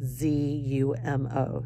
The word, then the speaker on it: zumo: In Spain, orange juice is called zumo, Z-U-M-O. So zumo is what they call orange juice, just so you know.